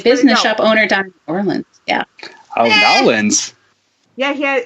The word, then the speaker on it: New Orleans: You're supposed to combine the words. And take all, it's got like you took a peanut butter and you just smeared it. New Orleans.